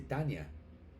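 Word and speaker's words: Tanja: Eh, el nombre de Tania, Tania se escribe, se reemplaza la I por la J y se dice Tania.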